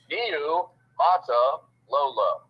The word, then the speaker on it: Niumatalolo: It's pronounced the way it's spelled. Niu Mata Lola. Just take your time and everything is fine.